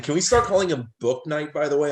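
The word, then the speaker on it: Bouknight: night by the way i know his name is spelled b-o-u but his actual name i looked it up because i didn't wanna i wanted to make sure i knew it is book night surprisingly that's easier the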